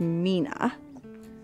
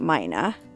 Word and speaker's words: Mina: Pretty sure it's pronounced Mina, not Mina.